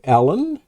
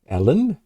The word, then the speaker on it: Alun: We have this image right here sent in by Alun. Alun. It's A-L-U-N. I think the pronunciation is heavy on the A-L, less on the U-N.